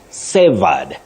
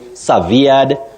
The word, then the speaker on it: severed: that is cutting links so you say Saed Saed but many people find themselves saying SED that is not the way to go you simply say sa